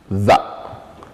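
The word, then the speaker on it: ذ: Mais, pour bien prononcer ce son aussi, il faut mettre la langue entre les dents et pincer un peu les dents sur la langue au moment de la prononciation. Comme ça, on aurait za, za, za.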